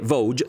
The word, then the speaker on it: Voge: Il nome corretto, come da sito ufficiale, è Vosges, si pronuncia così anche se tutti dicono Vosges, Trofeo 350 AC, dove